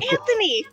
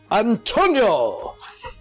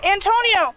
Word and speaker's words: Antonio: Oh, Anthony!